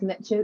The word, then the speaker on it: niche: Yeah, so that is niche. Like, I say niche, but I think the American way of saying it is niche. Them niche. Yes. So it's a bit different the way we pronounce it.